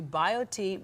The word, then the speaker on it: BioTE: happier log on to biot medical dot com and biot is spelled b i o t e so bio t medical dot com easy read